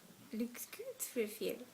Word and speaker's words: Lukgudwfil: It's a Swedish word, and it's pronounced Luxgudfil. And it's kind of interesting because if in English it sounds like looks good with Phil.